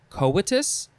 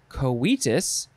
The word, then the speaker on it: coitus: go with coitus wow you can pronounce it a few ways you could say co coatus you could say koitus or just coitus i've only heard coitus now i i think